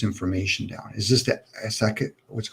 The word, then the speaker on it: Akashic: Is this the Asakit, what's it called, Asakit records? I think it is. Maybe you guys know how to pronounce it. Akashic Akashic, records.